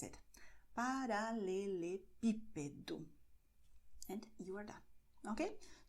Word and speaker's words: paralelepípedo: For instance, when you say cobblestone in Portuguese, you say paralelepípedo. It's very long. Most Brazilian words aren't that long, but here you see that the acento is in P, so you stress it. Paralelepípedo.